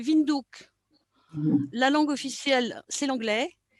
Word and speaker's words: Windhoek: Sa capitale, c'est Windhoek, mais il paraît qu'il faut prononcer Windhoek.